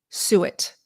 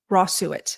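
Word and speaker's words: suet: Raw sew it. Rossuit. So if you guys want to take notes, it's spelled s ue t.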